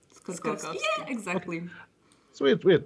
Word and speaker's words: Skorkowsky: My family has lived in the United States for just over 200 years, so we haven't pronounced it, the old country way in so long. That's just how we pronounce it, So which is evidently wrong.